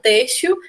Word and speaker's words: têxtil: Alguém aí falou, por exemplo, na palavra têxtil, que trata-se de uma paroxítona terminada em L, o têxtil, né? É a sílaba mais forte, então é uma paroxítona, e o álibi, dividindo aí, fica álibi, né?